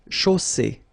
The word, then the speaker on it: chaussée: And then you get the double S between two vowels, so it's really strong. I mean, the S is s. Okay, so une chaussée.